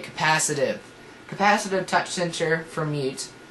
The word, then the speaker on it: capacitive: that's really neat um capacitated or capacitive that's how you say it capacitive capacitive touch censor for